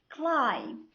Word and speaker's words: climb: بمعنى ملي كتجي B at the end of the word في نهاية الكلمة بالحق قبل منها كاين letter M, B is silent. An example: bomb, climb, thumb, lamb.